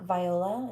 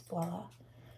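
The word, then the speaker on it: voilà: I read it quickly incorrectly and I think I wrote I read it um like viola. It's not. It's voila. It's a French word.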